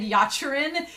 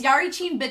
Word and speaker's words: Yarichin: Club I've mispronounced it for eons I've always said yacharin instead of Yari chin and no it's Yari chin Club